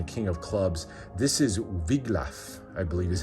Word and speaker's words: Wiglaf: This is Wiglaf, I believe is how you pronounce his name, one of his most loyal retainers, and the two of them go together to defeat the dragon.